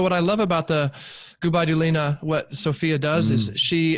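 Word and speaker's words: Gubaidulina: All right, and how do you pronounce her name again? I just want to make sure I get it right. Gubai Dulina.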